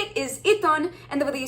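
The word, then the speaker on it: עיתון: and the way that you say it is iton, and the way that you spell it is ein, yod, tav, vav, nun sofit.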